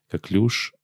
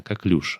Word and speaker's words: коклюш: Коклюш, кстати, правильно говорить именно коклюш, а не коклюш. Это из-за французских корней слова.